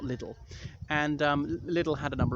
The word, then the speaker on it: Liddell: I think it's pronounced Liddell, not Liddell.